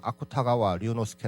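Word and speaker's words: 芥川龍之介: 작가를 둘 수가 있어요 한자 라는 개천 용지 개인데 에 일본 발음으로 는 아쿠타가와 류노스케 를 합니다 이 사람 이름을 따서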